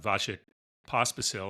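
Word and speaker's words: Vasek Pospisil: The PTPA was founded only in 2020 by NovakJokovic and Vashik Pospasil. I think I got that pronounced right.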